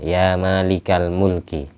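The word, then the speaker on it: يا مالك الملك: Mulki ikuti Malikul Mulki kalau dikasih ya maka bacanya Malika ya malikal Mulki ya malikalulki ya malikal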